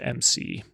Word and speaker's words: McIntosh: They're spelt differently. Macintosh computer has the A in it. This is just McIntosh. So like spelled differently, pronounced the same.